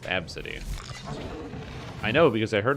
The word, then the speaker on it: Abcde: The name ABCDE is pronounced Absidy.